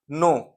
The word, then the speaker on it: know: Next is नो, KNOW, के silent है यहाँ पे इसलिए इसको नो पढ़ते हैं.